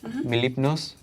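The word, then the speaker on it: Mlepnos: armison hello hello what's your name my name mipos can you spell that please m l e p Clay did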